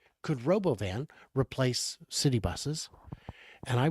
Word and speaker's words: Robovan: Yeah, I think that the Robovan, Elon had a really interesting pronunciation for it was Robovin or something like that in the event. No, Elon, no. But the Robovan, I think, will be extremely successful.